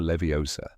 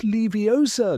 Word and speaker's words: Leviosa: "It's Leviosa, not Leviosa."